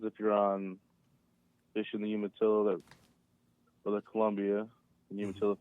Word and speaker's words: Umatilla: The salmon also, again, it depends if you're on fishing the Umatilla or the Columbia.